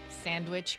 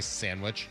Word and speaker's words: sandwich: Cuz I say I say sandwich. You don't do the D. I don't really pronounce the D.